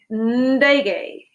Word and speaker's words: ndege: Similar to ngiri with a small n at the start, ndege.